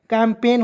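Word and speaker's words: campaign: एन पेन लिख दीजिएगा कैंपेन हो जाएगा कैंपेन मीस होता है दोस्तों इसका हिंदी हो जाएगा अभियान ठीक है सी ए एम कैम पी ए आई एन पेन कैंपेन जी को इसमें साइलेंट कीजिएगा य देखेंगे एच ओ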